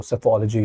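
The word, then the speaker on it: psephology: सो सेफोलॉजी इज A answer, P is silent.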